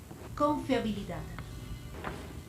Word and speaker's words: confiabilidad: Cuando tú pronuncias confiabilidad, ¿dónde sientes que hay una mayor entonación? ¿Dónde está, dónde escuchas que haces esa mayor fuerza? Justo en la última sílaba.